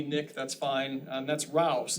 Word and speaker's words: Rouse: that's fine and that's Rouse it's not pronounced any other way there's no H's or anything people keep putting hes in there no it's like house but it's got an r on it anyway there's my